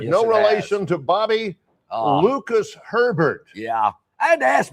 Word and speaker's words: Herbert: He goes, no, John, there's another R in it. It's Lucas Herbert, like Justin Herbert, the quarterback of the LA Chargers.